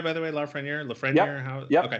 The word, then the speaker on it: Lafreniere: Am I saying it right, by the way, Lafreniere? Yep, Okay. Lafreniere, yep.